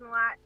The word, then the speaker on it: Ma'at: You actually pronounced the name right. A lot of people don't on the first try. Peeress Ma'at.